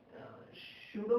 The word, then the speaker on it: pseudo: सूडो में P silent होता है ना, सूडो फोर्स।